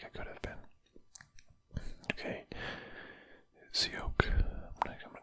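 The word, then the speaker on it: Tsioque: Sioque. I'm gonna call it Sioque. T-S-I-O-Q-U-E. T-S-I-O-Q. Sioque. Sioque. Pronounce Chiak. Chiak. So T-S-I is G.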